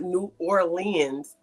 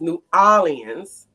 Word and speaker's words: New Orleans: was saying it wrong he said it was not New Orleans it was New Orleans and that I Wasing